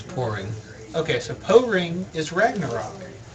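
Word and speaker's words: Poring: So, apparently the chat has informed us that Po-Ring is how it's pronounced, is not a Pokemon. What were you going to say there, Zach? I think it's pouring.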